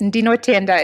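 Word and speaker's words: Ndinotenda: I've heard Waita Zvako and I've heard Ndio Ntenda. Yes, Ndino Tenda is what I would say. Or, yeah, I think that's fine. Even my, Ndino Tenda.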